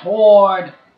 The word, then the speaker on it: sword: sword Chas the diamond sword that is not how you freaking pronounce it what it's sword the W is silent don't you think I